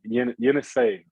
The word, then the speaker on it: Yenisei: BC and Easy, is that how I pronounce that? Yeah, Yenisei. Yenisei. Okay. I say Yenisei. People say I say Yenisei. DJ Kennedy says Yenisei. We'll make that the official pronunciation of that team.